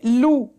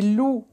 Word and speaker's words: loup: Et loup. Non. Non, on ne prononce pas la lettre P. C'est loup. C'est comme cou. Loup. Il n'y a pas de son P.